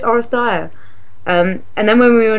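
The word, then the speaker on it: Oresteia: I couldn't remember how it's pronounced, and I was like, Orestea. And I was like, no, it's Orestea.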